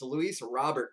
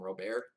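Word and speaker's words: Luis Robert: save it Lewis Robert its Lewis Robert guys this elite guys I've been seeing a lot of people calm robear people thought that was right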